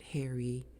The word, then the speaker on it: hares: They're hares, and they pronounce it hairy. It's a long E, and they're dicks.